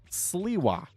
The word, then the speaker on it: Sliwa: funny, and realized that it is pronounced Sliwa. And I felt so embarrassed because I've said his name like that here on stream multiple times.